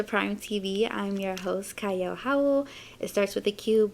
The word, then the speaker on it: Qiayel: and welcome to Prime TV I'm your host CYO Howell it starts with a cube but it is pronounced CAO and I have a wonderful guest with me